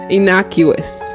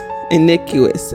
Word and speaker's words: innocuous: This is how you pronounce it. Innocuous. Inuous. Innocuous.